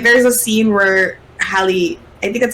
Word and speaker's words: Halle: I think they're gonna do like the iconic scenes, like there's a scene where Halle, I think that's how you say her name, Halle Bailey.